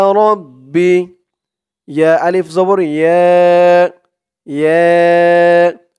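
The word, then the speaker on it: ربي: পরে খালি আলিফ ইয়া র দিয়ে বা ধরবে র বা জবর রব বা বি রব্বি রব্বি ইয়া রব্বি ইয়া রব্বি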